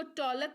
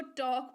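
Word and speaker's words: talk: cold पढ़ते हैं और टी ए एल की इसको तलाक नहीं इसको टॉक पढ़ते हैं जी हान ये स्पेलिंग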